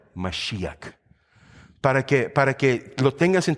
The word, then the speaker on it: Mashiach: Ese nombre Cristo, el ungido, ¿sabes cómo se dice en hebreo? Mashiach.